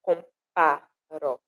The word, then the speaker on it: comparo: E aqui na palavra comparo, a sílaba forte é o pá, comparo. Compá é onde a gente imprime mais força, projeta mais a voz para dizer essa palavra, para pronunciar essa palavra.